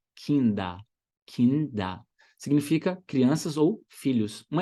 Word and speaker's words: Kinder: Termina com ER, mas o final tem som de A. Kinder. Kinder.